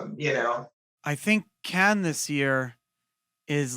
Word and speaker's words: Cannes: If anyone's in Cannes, this is how I remember how to pronounce it, like a can of corn. Yeah, it's like can't.